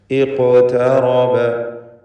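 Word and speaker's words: اقترب: ഇഖ്തറബ. ഖാഫിൻ്റെ സുക്കൂൻ ഖൽഖല സുഗ്റ നൽകി ശബ്ദം ഹറക്കത്ത് പോലെ ചലിപ്പിച്ചുകൊണ്ട് ഉച്ചരിക്കേണ്ടതാണ്. ഖാഫിന് തഫ്ഖീം കൊടുക്കുകയും വേണം. ഇഖ്തറബ. താഇന് തഫ്ഖീം വരരുത്. ഇഖ്ത എന്നായി പോയത്. ഇഖ്തറബ. റാഇനും തഫ്ഖീം വേണം.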